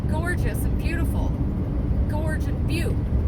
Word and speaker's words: butte: what they are gorgeous and beautiful Gorge and be it's fun at least I didn't you know no I did I said what's this butt and they were like be and I was